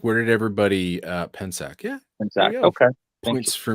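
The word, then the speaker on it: Pensak: hello i think i always say your name wrong penske or um eric how would you say p-e-n-s-a-k pensack and zach okay yeah i'm not too good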